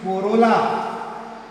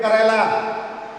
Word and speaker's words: corolla: Don't read it Kerala. It is not Kerala. Corolla.